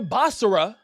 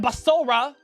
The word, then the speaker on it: Basara: You know, my boy Basara, that's how you actually say his name. Not Basora, it's Basara.